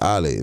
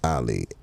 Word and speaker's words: Ali: Ali.